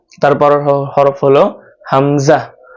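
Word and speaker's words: ء: তারপর হরফ হলো হামজা। হামজা উচ্চারণ করতে হবে গলার শুরু থেকে, আওয়াজটা ভিতর থেকে আসবে। হামজা হামজা হামজা হামজা হামজা।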